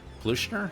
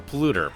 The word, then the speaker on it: polluter: kind of pollution air pollution er the thing if you pollute what are polluter that's what it is not pollution er no reason to add the extra syllable when you don't actually need it this is not the